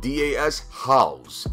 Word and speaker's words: Das Haus: to map number nine map number nine is pronounced das haus haus does house so this is like a